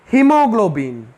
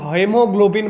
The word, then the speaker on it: haemoglobin: है हमारे ब्लड में, हीमोग्लोबिन। हीमोग्लोबिन क्या करता है? ब्लड में और एक चीज होता है जिसका नाम है हीमोग्लोबिन। इसका स्पेलिंग देख के बहुत लोग हेमोग्लोबिन बोल देते, नहीं, ये हीमोग्लोबिन है।